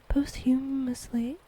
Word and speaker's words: posthumous: Posthumously? Humorously? I don't know. Awarded him the title Doctor of Jiangnan Shan. I have just been informed by my lovely husband and Maud that it's pronounced posthumous.